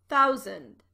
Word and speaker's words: thousand: 100 1,000 notice that the last syllable of thousand is not pronounced sand it's an unstressed syllable and pronounced zund thousand 10,000 100,000 1 million